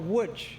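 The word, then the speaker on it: Łódź: Next, to their dismay, they were sent even further east to Litzmanut or Wuj. Now, wood is spelled L O D Z.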